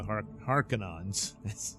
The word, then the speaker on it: Harkonnen: So we learn about her past and the animosity between the families of the Harkonnens.